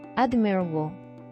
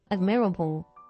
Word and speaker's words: admirable: 근데요, however, in several disyllabic stems with final stress, it shifts the stress one syllable left to the stem initial, as in admire, admirable, compare, comparable, prefer, preferable. 하지만 끝에 강세를 지닌 여러